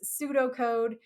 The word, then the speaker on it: pseudocode: of the prep is pseudo code and the in English if you're not an English speaker English is weird um it's a silent P so when we say pseudocode what we mean is